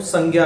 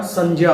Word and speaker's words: संज्ञा: अभी तक हम इसका जो उच्चारण है वो संज्ञा करते हैं, जो कि हमारी एक तरह से आम बोलचाल भाषा में आ चुका है। लेकिन वास्तविक रूप में देखें तो इसका उच्चारण संज्ञा होता है। क्यों होता है उसको भी देखें। देखिए, ये जो संयुक्ताक्षर जो ज्ञ है, ये जय होता है।